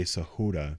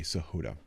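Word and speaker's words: Sahota: it Donald uh Saha I'm gonna say sahud is how you pronounce it um s a h o t Saha um he goes up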